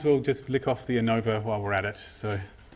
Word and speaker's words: ANOVA: I call it ANOVA. If you listen to some people, especially in the USA, talking about it, they'll pronounce it ANOVA. And they'll put the emphasis on the an and not the o.